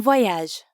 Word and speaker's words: voyage: The oa sound at the beginning of voyage is the same as in toilette and croissant.